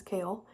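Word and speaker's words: Chaol: which I've been reading his name was Cole his name is kale and durian yeah I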